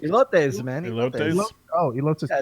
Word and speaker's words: elotes: How do you pronounce that? Eliotes? Elotes? Elotes, man.